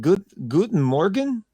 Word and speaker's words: Guten Morgen: Guten Morgen. Ivan, is that how you say it? Guten Morgen?